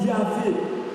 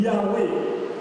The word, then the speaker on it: Yahweh: donné son nom, mais qui était difficile à prononcer parce qu'il n'avait que les consonnes. C'est au fil du temps qu'on a ajouté des voyelles pour prononcer son nom comme Yahvé ou Yahweh.